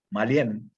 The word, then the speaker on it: Mallen: Bueno, yo he estado curioseando, y tu laboratorio, Malien, ¿no? O Mayen, ¿cómo se pronuncia?